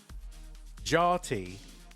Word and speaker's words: Jati: What is How do you pronounce that player's name? Is it Jotty? Yachty. Jarty. Jarty. You mean Jotty? Jotty.